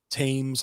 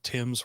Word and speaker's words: Thames: it's riding on the river Thames I think is how you say they're Tim's whatever but um you know there